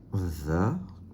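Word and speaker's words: ذ: Donc là, c'est le dha. Moi, j'écris DH, mais vous écrivez comme vous voulez. L'important, c'est de bien le prononcer.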